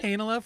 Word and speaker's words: Heinola: I'm going to go with Heinola from now on, because that's the way that Bayak pronounces it, and I feel like